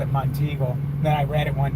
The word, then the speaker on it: Monteagle: it was Mount Eagle. No, it's Monteagle.